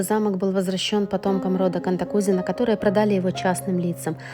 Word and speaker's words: Cantacuzino: бычок украшать мы произносим кантокузино но правильно ставится ударение на и кантакузина князь Георгий контакузина считался